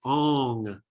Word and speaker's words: Om: an um sound so the way to chant om out loud actually is ong like you're saying song and when you say